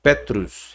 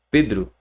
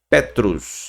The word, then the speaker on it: Petros: Pedro porque parênteses é porque Pedro gente não é a fonética a forma da pronúncia não é Pedro tá certo ele também era chamado de Petros e aqui ó ao